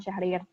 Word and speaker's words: Syahrir: ini adalah Sutan Syahrir atau kalau menurut berdasarkan ejaan lama itu tulisannya itu setan Sjahrir namun tetap dipanggil Sutan Syahrir beliau lahir di Padangpanjang